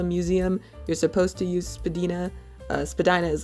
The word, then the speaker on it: Spadina: Although it's smaller and less famous than its neighbor, the Casa Loma, the Spadina, it's apparently supposed to be pronounced Spadina, but I mean, not even the voice on the subway does that.